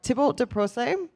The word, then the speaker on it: Thibault de Procé: They are Thibault de Procé. I hope I said that correctly. You said that correctly, yep.